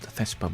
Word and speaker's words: Thespa: And the prefix, I guess, Thespa, it's pronounced Thespa, but it stands for the spa.